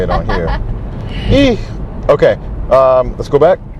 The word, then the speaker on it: и: The backwards N character in Russian, which looks to us like a backwards N in America, is E, pronounced E, like the letter E, and it means and.